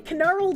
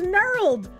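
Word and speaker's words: knurled: Also, the K in canurled is silence. Pronounce it as nurled.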